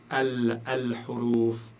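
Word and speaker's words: الحروف: Et donc là, vous devez prononcer le lam. Al-huruf, al-huruf.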